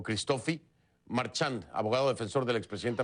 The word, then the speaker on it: Christophe: No sé si es Christophe o Christofi Marchand, abogado defensor del expresidente Rafael Correa en temas internacionales. Abogado, gracias por estar aquí. Me dice cómo pronuncio su nombre. Christophe, se pronuncia Christophe. A manera francesa.